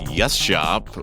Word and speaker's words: gesceap: I'm your host, SQF, and our guest today is Yashop. All right, welcome to Yes Shop, which is an interesting way to pronounce this collection of letters.